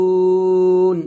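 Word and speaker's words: ينفقون: ইয়া নুন পেশ ইউং, গুণ হবে ইকফা গুণা, ফা জের ফি, ইউং ফি। কফ ওয়াও পেশ কু নুন জবর না ইউনফিকুনা এখন ওয়াকফ ধরলে হবে ইউনফিকুন ইউং এখন অবশ্যই গুণনা হবে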